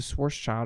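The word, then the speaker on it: Schwarzschild: he had to add imaginary numbers use a source child equation which is how you pronounce it and it still doesn't work it's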